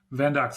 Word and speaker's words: Vendux: And that is And how do we pronounce it? Is it Vendux? Vendex.